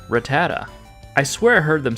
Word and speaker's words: Rattata: And this Pokémon is Rattata. But if you're like me and you've been saying it like Rattata, well, you're wrong. It's actually Rattata.